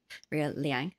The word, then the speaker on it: Liang: guests um associate professor raya lang actually liang sorry pronunciation um she also said